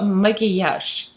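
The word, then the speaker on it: макияж: on your face and monkey hush and the makeup products are cosmetic so at the end there is a but when you pronounce it it sounds more soft almost like so maggie hash so i'm going to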